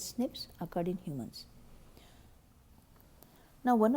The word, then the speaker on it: SNP: single nucleotide polymorphism or they're pronounced as snips occurred in humans now